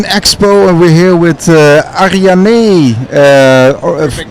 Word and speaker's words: Arianee: All right, we're in Amsterdam at the Blockchain Expo, and we're here with Arianee. Perfect pronunciation.